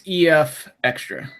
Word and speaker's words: EFXtra: Well, it's like extra, but it's EFXtra. So, and that's all one word. That's the gag of it. We give it's the EFX with extra. Yeah. EFXtra.